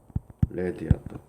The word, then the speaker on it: read: Read드 일단의 과거는 스펠링은 똑같아. 근데 발음에 이건 또 레드야.